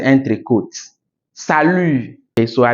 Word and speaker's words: salut: Salut. Okay, so I didn't say salute. Okay, it's salut.